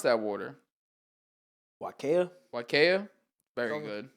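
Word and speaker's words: Waiakea: pronounce that water wakaya wakaya very good when people say wakaya Kia yeah I've said like wakiwi or whatever yeah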